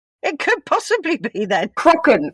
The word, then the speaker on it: Kraken: Crocken. Crocken. Crockens how it's supposed to be pronounced.